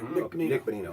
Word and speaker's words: Bonino: He got a goal, by the way, last night, as did Ben Lovejoy and Bonino. Is that how you say it? Yeah, Nick Bonino.